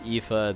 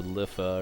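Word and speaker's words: Iifa: of this area, because it's Ifa, the Tree of Life, and I'm sure there are many people that thought this was called the Lifa or Lifa tree. But it is I-I-F-A, which I've always pronounced as Ifa. But I'm sure there's other ways to pronounce it.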